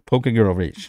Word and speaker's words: Pokegirl Rach: So, Pokegirl Rach, not Pokemon Girl Rach, nothing Pokemon, not Pokegirl with an accent on the E, just Pokegirl Rach.